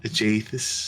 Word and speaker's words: Aegisthus: No, that's not how you pronounce it. Agathis, Aegisthus.